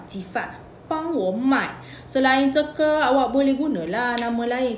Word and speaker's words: 这个: Ejaan zhege ni ZH zhe eh. Zhe, zhe, ji sebut ke zhege eh.